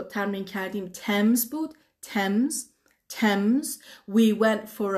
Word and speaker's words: Thames: کلمه بعدی که تلفظشو ترمین کردیم Thames بود.